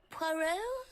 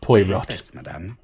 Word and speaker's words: Poirot: engage in the conversation mr parrell it's pronounced poirot and i like to